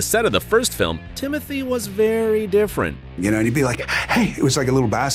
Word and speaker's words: Timothée: Well, honestly, it's Timothée, but I would not oblige you to say it like that. It could be Timothy or Timmy or Doug.